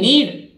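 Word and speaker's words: knead: बोलेंगे, आटा गूथना, के N double E डी नीड, आटा गूथना, और N double E डी नीड माने आवश्यकता होना।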